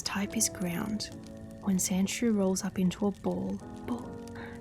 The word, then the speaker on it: Sandshrew: When Sandrew rolls up into a ball, its tough hide keeps it safe. It lives in the desert and sleeps in a borrow under sand. And you say it's Sand Shrew.